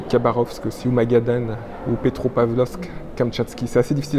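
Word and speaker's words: Petropavlovsk-Kamchatsky: En général c'est Vladivostok et Khabarovsk aussi, ou Magadan, ou Petropavlovsk, Kamtchatsky. C'est assez difficile à prononcer, essayez de prononcer après moi.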